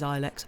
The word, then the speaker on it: Ilex: Oh, I've in that case, maybe it is Ilex. I don't know. I feel like because my mum's a gardener, and I feel like I've heard. The English pronunciation is long I.